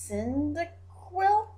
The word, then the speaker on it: Cyndaquil: It looks like NyQuil, but it's not NyQuil. It's Cyndaquil.